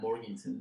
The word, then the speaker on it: Morganton: I was born in Morganton, North Carolina. Morganton. Yeah. Is it spelled like Morgantown, but it's called Morganton? Yeah. Okay. That's how I say it. That's how people in North Carolina say it.